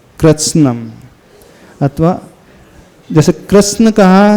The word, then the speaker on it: कृत्स्नं: ये कृत्स्नम पढ़ना, कृत्सनम नहीं पढ़ना, नहीं तो कृतत्सन, क्या कोई कुछ लोग पढ़ते हैं कृतत्सन, तो भी आधा है, स भी आधा, तो कृत्स्नम।